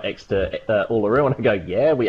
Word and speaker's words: Uluru: And I'm showing, this is Urulu. Am I pronouncing that right? This is the, this is actually a, that big rock, Urulu, am I pronouncing that right? Uluru, excuse me.